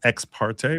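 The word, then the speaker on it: ex parte: So, when you get in there by yourself, that's called that's the Latin term for that is exparte, which is spelled X E X, new word P A R T E.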